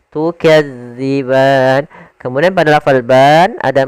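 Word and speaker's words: تكذبان: Hati-hati dalam melafalkan huruf dalal karena di sini bukan huruf za. Jangan tukazziban tapi dia tukadziban.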